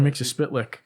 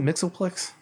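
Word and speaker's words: Mxyzptlk: Mixie-Spitlick in Superboy. Is it Mixoplex? No, it's Mixie-Spitlick.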